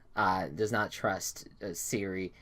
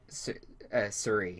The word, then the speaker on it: Suri: she does not trust Siri at all. And Suri. Suri, yeah, there you go. Emphasis on the second syllable.